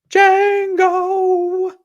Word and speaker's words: Django: later part of his career and we've got jango said it right that time uh versus shutter